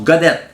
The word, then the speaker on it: Gaudet: On peut suivre sur son site web, pas TTE. Comme Godet, mais que ça se prononce Godette.